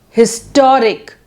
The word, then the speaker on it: historic: Adjective ending in IC suffix like syllabic, like autocratic, historic, etc. So the stress is on penultimate syllable. Historic, historic.